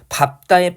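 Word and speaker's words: 밟다: 밥다의 밥 같은 어간은 자음 앞에서 밥으로 그 다음에 넓다는 기본적으로 이렇게 발음하지만 다음의 경우에 넙으로 발음한다 해가지고요.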